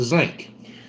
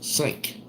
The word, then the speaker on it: sink: everybody called it the zinc. We did too, though. And like at school, they would tell me that I was mispronouncing it, that it was sink.